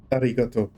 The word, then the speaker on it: arigato: But I said Japanese because learning how to pronounce Japanese in university had me roll the R's, or arigato. It's the tip of the tongue R. Arigato.